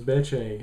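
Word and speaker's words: Bethe: is a hate crime beche Korea in fact I actually didn't know that you pronounce uh be's name is beche until I watched the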